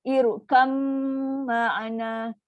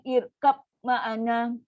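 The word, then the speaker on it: ارْكَبْ مَعَنَا: Kita ni nak belajar ni, cara baca dia irkam ma'ana. Jangan baca irkab ma'ana.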